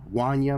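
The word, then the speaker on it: Wanya: Actually, it's probably pronounced WA Wana Morris.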